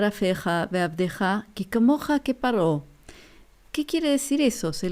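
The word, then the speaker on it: פרעה: O sea, ¿cómo se dice en hebreo faraón? Se dice paró.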